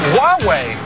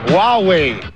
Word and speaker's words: Huawei: It's actually pronounced Huawei. Huawei.